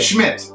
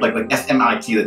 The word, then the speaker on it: Schmidt: Schmidt. Schmidt. Schmidt. No, with a T. Schmidt. Not TH. Yeah, there you go. Yeah, Schmidt. Okay. just do Schmidt, like SMIT.